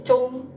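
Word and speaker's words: zhong: i begini ya terus z h o n g ini bukan dibaca zong dalam bahasa Mandarin ya teman-teman tapi cung ya jadi u o-nya itu sedikit dikecilin u gitu ya Nah ini cung gitu ya Nah ini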